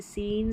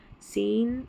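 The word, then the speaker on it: scene: Number 35 पर है SC, इसको स करके प्रोनाउंस करेंगे, जैसे सीन, साइंस और सीजर्स, सीन, साइंस और सीजर्स, SC को स करके प्रोनाउंस करना है, SC को स, ऐसे याद रख ले।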